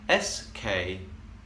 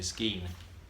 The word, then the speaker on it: skein: SKEIN. How do you pronounce that? There's a lot of people who say skein. Sorry, unacceptable. It's very much skein, and I can prove it.